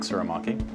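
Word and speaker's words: Tsurumaki: My name is Suramaki. My name is Paul Lewis. Our firm's name is Lewis Suramaki Lewis Architects, which also is abbreviated to LTL Architects because no one can ever pronounce Suramaki properly.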